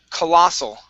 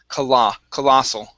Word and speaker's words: colossal: And the last one here is colossal. Okay, so we want to put the stress right on that O. Colossal.